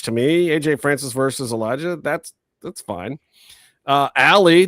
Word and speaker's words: Elijah: Say it right. Elijah. Not Elias. We don't know an Elias. That's an Elijah.